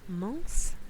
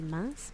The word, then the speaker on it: Mons: Mons? For some reason you like saying like Mons, but Mons? You say the S? Ugh, French, please. French, please. The S is prononcé.